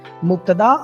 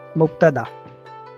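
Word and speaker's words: مبتدأ: Let's pronounce the Arabic terms. Mubtada or khabar. So al-kitab is. So Say it. Mubtada.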